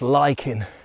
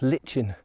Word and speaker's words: lichens: this lichens or lichens people have been telling me that it's now it's now pronounced liking as opposed to as I was taught licking at school but it is it's